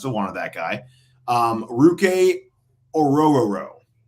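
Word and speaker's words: Orhorhoro: Ruke Orororo. And it's, again, for everyone out there, it's Ororo row your boat. And that came directly from him on how to pronounce his last name.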